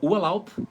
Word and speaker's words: Urlaub: Então, Urlaub, que é férias, né, nessa palavra Urlaub, a letra B no final tem som de P de pato.